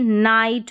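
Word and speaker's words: night: अब यहाँ पर एक चीज़ है कि ये जो GH आता है ये साइलेंट रहता है, लेकिन आप इसी तरीके से याद रखें कि IGHT को आप आइट पढ़ते हैं। अगर आप देखेंगे कि ये साइलेंट, बस पता होना चाहिए कि GH यहाँ पर साइलेंट है, इसका उच्चारण नहीं हो रहा है। ठीक है, तो आइट करके पढ़ा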